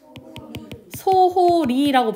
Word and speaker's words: 소홀히: 소홀히 있잖아요. 얘를 만약에 소홀이라고 발음을 한다고 생각을 해볼게요. 연음해서 발음하면 어떻게 돼요? 소홀이라고 발음이 되죠. 이거 여러분들 이렇게 발음해요 안 해요? 소홀이라고 발음해야 할까요 안 할까요? 해요. 그럼 얘는 이로도 발음이 되고 히로도 발음이 되는 애인 거예요.